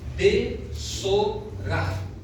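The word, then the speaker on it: בשורה: E sabe como é pronunciada esta palavra evangelho ou evangelho em hebraico? É assim, ó. Besorar.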